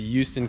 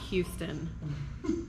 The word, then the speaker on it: Houston: It's Houston. Houston? Houston. We have a Houston. problem. They didn't say Houston. I say it like I say huge.